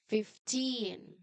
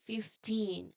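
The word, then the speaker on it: fifteen: Well, this is a tricky teen word because five changes to fifth, the first syllable. So, the strong part here is the end teen. So, you see it with me. 15.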